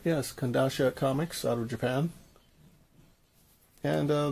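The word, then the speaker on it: Kodansha: Am I pronouncing it right? Yes, Kandasha Comics out of Japan.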